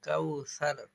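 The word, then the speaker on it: কوثر: লাম্বা হবে ইনাকাল কাউসার কাউসার এখানে সা আছেশিন পড়লে ভুল হবে ফাসল্লি সদলামের ধরবে আবার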